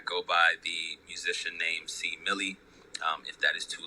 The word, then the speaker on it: C Millie: by the musician named c millie um if that is too long for some people i completely understand you could just call me c c millie is three syllables but you know people